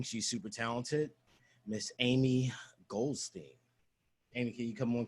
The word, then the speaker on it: Goldstein: Miss Aimee Goldstein. Aimee, can you come on camera, please? Say my name right. Sorry, Aimee Goldstein. Stein. From the depths. That was Steen.